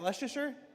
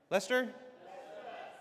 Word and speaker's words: Leicester: Is that Leasher? Lester.